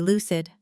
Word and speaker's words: lucid: Notice the stress. It's not L U cid. It's L U cid with the stress on the first syllable and the U sound is short like in loose but cut off quickly.